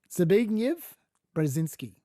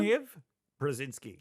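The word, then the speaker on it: Zbigniew Brzezinski: confident that I can tell you it is pronounced Zig brazinski okay zv brazinski one more time zv brazinski zv brazinski wow so there we go okay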